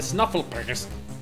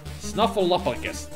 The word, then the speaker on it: Snuffleupagus: snuff pull up progress snuffleupagus that's the way snuffleupagus that's how you pronounce it yeah as long